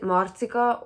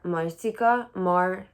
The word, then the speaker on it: Marcika: Um, or you can pronounce it Marcika or Marcika, Marcika or Marcika. I have trouble pronouncing it the second way because the first way is how I'm used to pronouncing it. It's a Hungarian name.